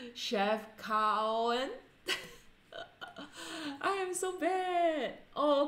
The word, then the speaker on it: Chefchaouen: Okay, it's Chefchaouen.